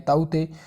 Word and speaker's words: Tauktae: जो साइक्लोन, तो जिसे अंग्रेजी में ताऊ ते प्रोनाउंस किया जाता है और हिंदी में से ताऊ ते लिखा जाता है।